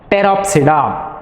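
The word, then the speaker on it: Pteropsida: it is peroxida so here also the p is a silent illusion today it should be pronounced as peroxida example drafter is teres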